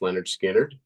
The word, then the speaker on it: Lynyrd Skynyrd: that you've already mentioned um from the debut pronounced Leonard skinnard okay and it is I ain't the one